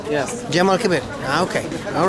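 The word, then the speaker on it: الجامع الكبير: mosque in Arabic how do you say J Jamal Kabir yes Jamal Kabir okay all right yeah actually I knew that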